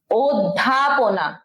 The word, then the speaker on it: অধ্যাপনা: ঢাকা বিশ্ববিদ্যালয় অধ্যাপনা করে এইটার উচ্চারণ ও হবে অধ্যাপনা ওকে অধ্যাপনা এইটা হবে উচ্চারণ যে হল দিতে হবে অধ্যাপনা সিভিল সার্ভিস বা বিসিএস যোগ